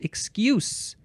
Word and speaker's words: excuse: form of the word excuse but it is pronounced excuse because it is a noun from The 14th